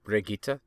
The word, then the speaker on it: Brigitte: I can't remember how her name is pronounced. Something like Brigitte.